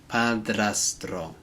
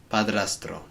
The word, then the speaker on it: padrastro: There's a lot of tongue rolling in that one because we've got the dr and then the tr sounds. Padrastro. Padrastro.